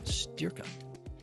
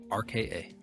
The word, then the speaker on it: Styrka: I'm a personal trainer and owner and founder of Styrka. And spell it? Styrka.